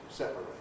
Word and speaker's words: separate: The verb has a strong A, separate. What does this imply for compression? In separate, there can be no compression. It's got to have 3 syllables, separate. But the adjective, separate, yes, you can weaken that. You do weaken that. Therefore, we can have syllabic R and we can get compression. Separate. And usually the adjective has 2 syllables, separate. To separate things, 3 syllables, separate, 2 syllables, separately.